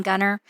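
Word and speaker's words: Gunter: It's called Gunnar, Texas. It's spelled Gu U N T E R, but we leave the T. They say our tea is silent in Gunner, but our touchdowns aren't because if you know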